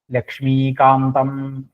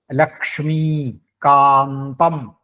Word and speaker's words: ലക്ഷ്മികാന്തം: ലക്ഷ്മികാന്തം അവിടെ ലക്ഷ്മി ലക്ഷ്മി എന്നുള്ള ഉച്ചാരണം ശ്രദ്ധിക്കണം ലക്ഷ്മി കൃഷ് ഈ ആണ് ലക്ഷ്മി ലക്ഷ്മി കാന്തം അവിടെ അതെ ലക്ഷ്മി എന്ന് ശക്തി കൊടുത്തു വരുമ്പോൾ ചിലപ്പോൾ ഉന്തം എന്നുള്ള ദിക്കിലേക്ക് ശക്തി കുറയും ലക്ഷ്മികാന്തം എന്നായി പോകും അതുപോരാ അവിടെ ഉന്തം എന്ന് തന്നെ വേണം ലക്ഷ്മികാന്തം പിന്നെ കമല